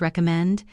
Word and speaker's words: recommend: Don't punch recommend. Let the last syllable fall like a feather.